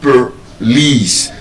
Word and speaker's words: police: It's not po, there's no er sound. I've also told us that our sound is not o, it's er. So, it's not bo, ber. It's not lo, ler. Slo, sher. So, in the same way, that word is not po, there's a schwa sound, per lice.